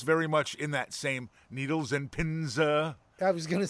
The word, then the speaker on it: Needles and Pins: But it's very much in that same needles and pins. I was going to say that the actual pronunciation of the name of the song is Needles and Pinza.